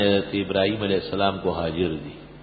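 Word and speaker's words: هاجر: ابراہیم علیہ السلام کو حاجر دی. حاجر تلفظ صحیح کر لو اپنا، حاجرہ نہیں کہا کرو.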